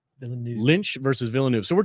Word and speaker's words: Villeneuve: Lynch versus, how do you say this guy's name? Villanuv. Villanuv. There's a V at the end. Villanuv.